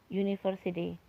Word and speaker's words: university: Jadi kalau di Indonesia kan seperti ini, depannya bukan lagi U tapi Y, seperti ini kan, university.